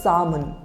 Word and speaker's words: salmon: the correct pronunciation is salmon repeat after me salmon the L is silent so it will not